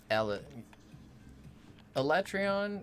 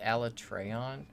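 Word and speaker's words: Alatreon: where tiger x was alex electron is how we always said it and then when they first said it ala treon like i near i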